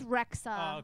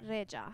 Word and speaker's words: Rexha: re re it's actually Rea that's what I thought start it again backstage I told you it it's rexa but in in Albanian it's Rea re I told him that